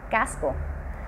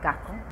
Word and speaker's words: casco: Una de las más conocidas es que pronunciamos la letra S como una J. Pues un ejemplo de ello sería la palabra casco, que nosotros la decimos casco. Pues me comí la S y puse una J.